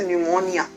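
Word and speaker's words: pneumonia: Spelling में पी आता है लेकिन प्रोनाउंस करते हैं तो एन से करते हैं तो निमोनिया।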